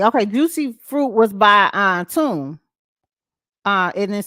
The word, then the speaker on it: Mtume: Okay, Juicy Fruit was by Tune. It is spelled Mtume.